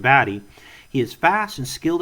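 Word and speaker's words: Batty: Roy baddy is actually his name is pron pronounced baddy he is fast and skilled at combat with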